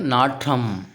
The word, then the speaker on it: நாற்றம்: அப்படிங்கறது சரியா இருக்கணும் அடுத்து நாத்தம் அடிக்குதுன்னு சொல்லுவாங்க ஓகேவா அது நாத்தம் கிடையாது நாற்றம் பதனி கிடையாது பதிநீர் அப்படிங்கிற மாதிரி